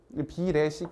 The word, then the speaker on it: 비례식: 이게 리에 비례식 발음이 좀 힘들죠. 비례식 이렇게 얘기해도 돼요. 비례식. 근데 꼭 어떤 사람들은 이걸 꼭 이렇게 꼭 리에 발음을 다 하더라고요.